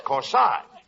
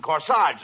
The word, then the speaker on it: corsage: eighty no not corsage of course aj that's corsage spelled at that a-g-e is pronounced like odd as in corsage or our garage now where did you get